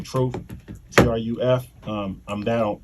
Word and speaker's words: Truf: follow me at truth city uh truth city is spelled t-r-u-f-c-i-t-y i spell my name truth t-r-u-f um i'm down on all social media